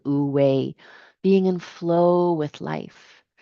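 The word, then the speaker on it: wu wei: um wooue or as it's pronounced I believe ooi being in flow with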